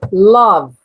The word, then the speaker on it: love: Então o primeiro é love. Love. Tá? Lembrando, esse ezinho é mudo, tá bom? Esse ezinho ele é mudo.